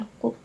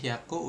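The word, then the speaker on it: 百: 100 bacanya hiu. Haku. Haku. Heeh. misalkan hiaku eng gitu kan seperti itu. Oke. Kalau 1000 itu berarti mesti buka ini dulu berarti. Oke, kalau 100 tadi Haku udah ya kan ini 200 Haku.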